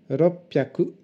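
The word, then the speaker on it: 六百: Pour des facilités de prononciation, on dira pour 300, sanbyaku, pour 600, ropyaku, pour 800, hapyaku.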